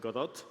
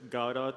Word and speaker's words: Godot: founded in Argentina and the founder it pronounces it Godot a lot of people from the you know native English speakers use gaurav or any other kind of pronunciation but it's however you